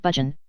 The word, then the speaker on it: Burgoyne: Nutting had a famous foxhound named Burgoyne, he pronounced it Budgeon, which my informant used to borrow.